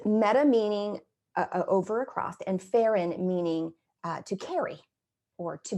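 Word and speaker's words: pherein: Metaphor actually comes from Greek words, meta, M-E-T-A, meta, meaning over or across, and pheron, pronounced with the accent on the second syllable, but it's spelled P-H-E-R-E-I-N, pheron.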